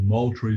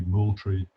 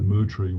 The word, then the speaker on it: Moultrie: to the town of moultrie georgia where they badly mangled the pronunciation of the name it should properly be moultrie or maybe even mootri with the silent l but i've been hearing